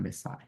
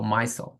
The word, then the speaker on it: micelle: needed to make one missile. Okay, or micelle. It's like you can pronounce it either way.